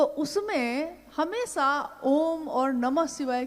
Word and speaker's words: ओम: अगर एक साथ सुना जाए उसको, तो उसकी आवाज गूंजती हुई ऐसी है जैसे हम बोलते हैं या उच्चारण करते हैं तो हम कहते हैं ओम, है वो आ उ मा, यानी उत्पत्ति, स्थिति और